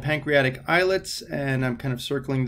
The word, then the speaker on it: islet: Those pancreatic islets, or islets of Langerhans, and it's pronounced islet, right? It's not island, so it's not islet.